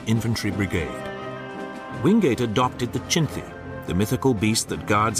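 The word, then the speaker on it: Chinthe: Wingate adopted the Chinti, the mythical beast that guards every Burmese temple, as his force's symbol. But his mispronunciation of the name led to his men being nicknamed the Chindits.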